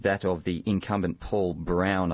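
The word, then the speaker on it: Broun: of the incumbent Paul Brown I think you pronounce that brown or Brun or something um he's a republican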